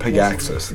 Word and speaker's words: Pogacsas: Pogacsas.